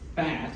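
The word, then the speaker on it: Phat!: you can buy them very easily another one fat but it's pronounced or it's spelled p h a t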